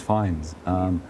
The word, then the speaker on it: Fiennes: version of that name, and my surname is Fiennes.